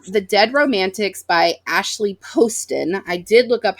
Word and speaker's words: Poston: dead Romantics by Ashley Poston I did look up how you say her name she has it on her website it's posted like post it but with an Owen um I picked this